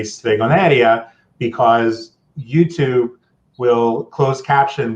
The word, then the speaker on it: stregoneria: a little poetic and you know and say stregoneria because YouTube will close caption what I write